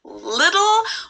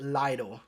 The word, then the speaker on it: Lidl: oh little so yeah i only know how to pronounce this because i went to germany but yeah station is leader it might be a little hard to say but i think it helps to know that both of the l sounds are light else that you pronounce with the top of your tongue so it's little yeah i know little